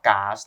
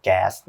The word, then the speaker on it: แก๊ส: ว่า แก๊ส นะ ครับ บาง คน ก็ อ่าน ว่า กาส เนาะ แต่ ว่า พี่ ว่า กาส นี่ น่า จะ เป็น การ อ่าน แบบ สมัย ก่อน นะ ครับ สมัย นี้ เขา อ่าน กัน แก๊ส อย่าง เดียว ละ นะ ที นี้ ครับ